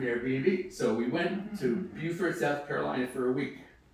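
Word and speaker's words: Beaufort: absolute hero then we spent a week in Buford that's how you pronounce it Buford South Carolina near Savannah because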